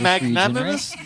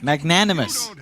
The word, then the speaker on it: magnanimous: an a this this should be an English magnimous magnanimous how do you know how to pronounce because I read books Mike you read